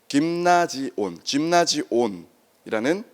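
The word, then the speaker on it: γυμνάσιον: 체육관이 김나지움인데 짐나지온이라는 그리스식 발음으로 되어 있는데요.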